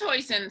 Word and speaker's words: hoisin: corn starch water uh salt uh is it hoisin sauce am i pronouncing that right yes hoisin sauce yes yes yes and some sesame oil